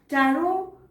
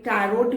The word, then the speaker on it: tarot: टैरोट एक wrong pronunciation है, इसलिए क्योंकि टैरो की जो स्पेलिंग में लास्ट वाला टी होता है वो साइलेंट होता है। इसकी स्पेलिंग है TAROT। एंड वाला टी, जैसे मैंने कहा, इज अ साइलेंट टी। तो आपको इसे प्रोनाउंस करना है टैरो।